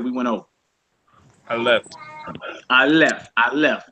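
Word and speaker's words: אלף: I left. I left. I left. They call it a silent letter, but it's equivalent to the A or the I in Hebrew.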